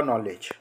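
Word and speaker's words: knowledge: अगर हम देखें तो एन के बाद यहां पर वावेल ए रहा है और यह साइलेंट यहां पर के हो जाएगा तो यह हो जाएगा नॉलेज अब हम दूसरी परिस्थिति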